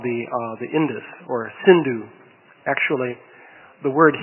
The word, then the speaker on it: Sindhu: called the Indus, or Sindhu. Actually, the word Hindu comes from the mispronunciation of that river's name, because in Sanskrit it is Sindhu, but people in Iran